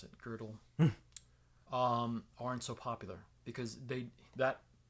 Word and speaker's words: Gödel: So I mean, this is why guys like Kurt Gödel, depending on how you pronounce it, Gödel.